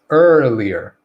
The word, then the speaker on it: earlier: And the third part is another ER, and this is the exact same sound that we have at the beginning. So it's earlier. And the only difference between this one, this first syllable, and the third syllable is that we stress this syllable right here. So we're going to stress it, and we're going to have this shorter, briefer, relaxed rhythm for the rest of the word.